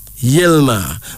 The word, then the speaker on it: Yilma: Ethiopian name meaning let him create and finally yilma yelma y i l m a yelma also spelled